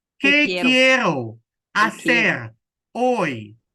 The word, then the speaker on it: hoy: So it says, ¿Qué que quiero hacer hoy. So the H Hoy. is silent.